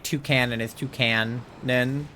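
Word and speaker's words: Toucannon: but and then like two Canon is two Canon because he's a cannon and a toucan that one in hindsight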